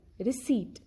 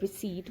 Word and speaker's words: receipt: not pronounce p then receipt in the word receipt we have this combination in the end so here also p is not pronounced it is silent our